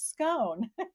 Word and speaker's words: scone: time about that he it's scun like bun it can rhyme with bun it's scun and I'm like it's scone like bone I love Scotland spent